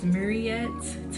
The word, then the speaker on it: Muriette: But now, for the most part, I try to introduce myself as Mariet to make sure you know how to pronounce my name for real.